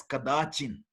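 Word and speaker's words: कदाचित्: So najayate mriyate va kadachit means when you using the Sandhi rules, it will be pronounced as kadachin.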